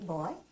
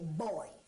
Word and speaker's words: boy: these males boy and you don't say boy you say boy when it's properly said it's a two syllable word boy and we use boy